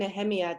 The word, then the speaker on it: Nehemia: I'm so so grateful to experience Gila and Nehemia did I pronounce that right she did yes and to